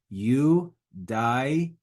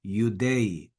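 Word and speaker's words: Iudaei: Eudai. Eudai. That would be more of a classical pronunciation. Church Latin would be Eudei.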